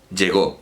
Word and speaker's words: llegó: Como llego, llegó, pues ahí el acento es fonemático, es un fonema.